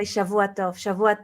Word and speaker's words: Shavua Tov: But now you say Shavua Tov. no. Now I say Good. happy Saturday. Happy Saturday. No, you say Shavua Tov.